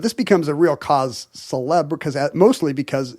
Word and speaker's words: célèbre: Did you just gently pronounce the R in cause célèbre?